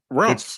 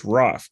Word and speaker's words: Raph: I thought it was Ralph. I thought his nickname's Ralph. No, it's Raph. It's Raphael, so it's Raph.